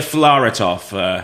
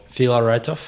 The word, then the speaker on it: Filaretov: It's Filaretov.